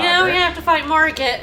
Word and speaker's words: Margit: Yeah, we have to fight Margit, who's Margit and not Margot, but might be Margot, I don't know. Legally distinct. They're all Margot, it's fine. Got? Did you pronounce the T at the end?